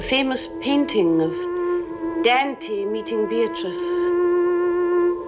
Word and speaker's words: Beatrice: There is a famous painting of Dante meeting Beatatrice. It is pronounced Beatatrice in Italian which makes it very beautiful.